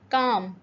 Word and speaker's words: calm: सो the next word is काम। एल इसका silent है, तो हम इसको क्या पढ़ेंगे? काम यानी पुरसकून, सकून भी कह सकते हैं आप।